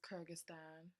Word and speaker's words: Kyrgyzstan: Kyrgyzstan is Kyrgyzstan.